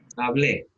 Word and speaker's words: hablé: Hablé. ¿Sigue la regla o no la sigue? Sí. Sí. Hablé. Lleva acento en la E.